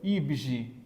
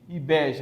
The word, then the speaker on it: IBGE: IBGE, você não pronuncia IBGE, IBEG, não tem isso.